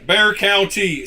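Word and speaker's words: Bexar County: Just ignore completely the X. Pretend it's not there and you'll be perfectly fine. Bear. There we go. Bear. Bear. Pretty straightforward from there, right? Bear Bear County, Texas.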